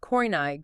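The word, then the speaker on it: Koine: It is coin Greek pronounced coini Greek.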